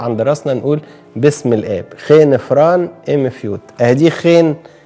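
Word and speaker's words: ϧⲉⲛ: ناخده في كلمة بقى أهو، آدي الخاي، وبعدين نحط وراه الحرف ده اللي هو إيه؟ الأي، بينطق إيه خفيفة، وبعدين هناخد وراه الحرف ده اللي هو الني اللي بينطق نون، يبقى خين، جدعان، خين، خ ي نون، خين، زي ما بنقول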